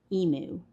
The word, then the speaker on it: emu: Um few comments about how to actually pronounce emu.